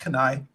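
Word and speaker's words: Keni-H: little bit of recognition it's spelled k-e-n-i hyphen H it's pronounced canai so good luck to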